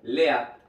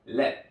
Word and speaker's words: lead: la siguiente manera y no se pronuncia como lea sino led led muy parecido a los bombillos led muy bien led entonces